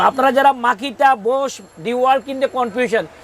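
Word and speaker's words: Bose: এখন দেখাচ্ছি বোস। এটা আচ্ছা। অনেকে বস বলে, বোস বলে, কিন্তু অরিজিনাল শব্দটা বোস।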